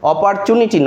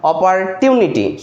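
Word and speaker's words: opportunity: অপরচুনিটি নয়। অপারটিউনিটি সঠিক উচ্চারণ।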